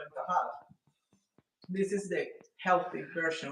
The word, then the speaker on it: Tajadas: Tajadas?